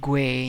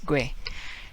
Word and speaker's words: güey: Now we got slang, that's a dude, buddy, pal, and it's like güey in Spanish, güey, right?